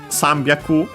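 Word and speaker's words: 三百: But yeah, Sambyaku, so on the first mora. Yonhyaku, yeah, that's the most common one instead of the shi, of course, also an exception. And the one we have here, Q-hyaku. All these are accent on the first moras.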